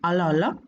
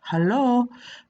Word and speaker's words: Halloo: to use word hello sometimes we pronounce the first letter as hello but not always we may just say hello hollow alo hello hello that's all for